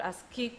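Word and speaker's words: ASCII: 제일 중요한게 아스키 코드입니다 아스키 코드는 걸 아스키 코드라고 읽어요 7비트 코드입니다 7비트 이거는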